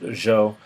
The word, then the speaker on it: Zhou: I really want to talk about is a Zhou dynasty is pronounced Zhou even though it's uh we might pronounce it